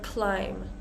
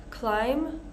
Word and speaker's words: climb: be silent so with words like climb this includes and we use it in the um jiren form or in the Progressive form climbing so we're not going to pronounce that b climb climbing comb comb crumbs crumbs